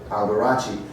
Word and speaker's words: Alberacci: They pronounce it Alberacci.